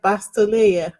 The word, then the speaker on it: Van Bastolaer: But I did check Google for the pronunciation and it's like Bastolayer.